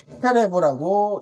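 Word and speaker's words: חרב: 그래서 이걸 헤레브라고 읽습니다. 그 앞에 있는 이 H, 하에 해당하는 의미로 칼을 뜻합니다. 라고 읽고요.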